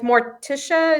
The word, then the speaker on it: Morticia: yep the gomez okay just in character with morticia is that her is that how you say